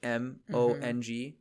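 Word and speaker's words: Hmong: And there there's quite a few Mong communities in um that's I think it's H M O N G how it's spelled.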